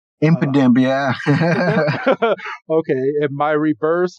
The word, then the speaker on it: Impidimp: a spiritum an exu um how do you pronounce this an impidimp impidimp yeah okay and my reverse Hol is a